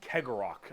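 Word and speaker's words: Cegorach: guarded by their god named keggerock i believe is how you pronounce his name he is the laughing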